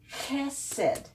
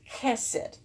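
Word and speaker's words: חסד: And since you have both of them, two segols, then the accent's going to be on this first syllable. Chesed. Chesed.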